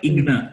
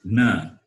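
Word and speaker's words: ग्न: It is not igna, it is gna.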